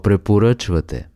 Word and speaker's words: препоръчвате: In Bulgarian, what do you recommend is Какво препоръчвате? Какво препоръчвате? Let's break it down by syllable.